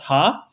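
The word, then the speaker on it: ห้า: And then it's like in Thailand, we laugh with the number five cuz five is pronounced ha.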